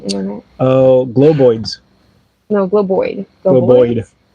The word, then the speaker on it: Globoid: Globoid. It's spelled weird. I was gonna look at it, but now my internet has failed again. GLOBOID. BOID? Boyd. Boyd. Globoid.